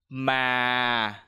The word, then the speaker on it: mà: The second tone is low falling tone. When you pronounce this tone, you have to try to lower your voice a little bit. For example, ma.